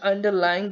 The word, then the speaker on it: underlying: So underlying is like underlying, there are four syllables, which is like underlying. Lying is the stress one, so press more stress on the lie.